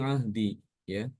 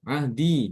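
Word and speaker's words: عهدي: Ufi bi ahdi, ya. Ahdi ufi bi ahdi. Ya, ahdi dibacanya ahdi bukan ahdiya, tapi dia dengan sukun. Ahdi. Dan ini semua tanpa perkecualian ya.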